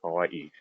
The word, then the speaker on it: Hawaii: Because like, right, you're supposed to pronounce that Hawaii, right? Like with the break between the two I's, the Okina.